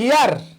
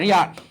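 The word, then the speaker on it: heir: এটা কি হিয়ার, এটা কি এইচ ই আই আর, হিয়ার নাকি এয়ার? এয়ার, ইয়ার, এটা হর উচ্চারণ হয় না, এই জন্য এটা এন হয়েছে।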